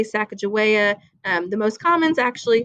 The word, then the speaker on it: Sacagawea: used duck sirs before and for research okay Sacagawea so she helps them in her husband was